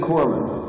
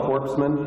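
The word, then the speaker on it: corpsman: It is Corman. You don't pronounce the S. Yeah, I mean, it's not very good for a guy delivering first aid to be called a corpseman.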